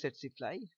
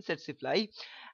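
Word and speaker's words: tsetse: see the vector is setly look at the spelling look at the pronunciation again setly and trios bru ambian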